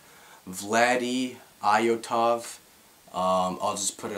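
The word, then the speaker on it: Vladi Iotov: a larger following um it's pronounced vlady iotov um I'll just put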